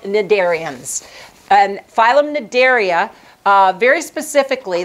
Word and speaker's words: Cnidaria: front of an N you also do not pronounce the C in front of an N so these are called cnidarians and phylum Cnidaria very